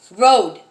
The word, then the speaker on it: Rhode: In fact, it looks like this. Road. Not road to drive or, no.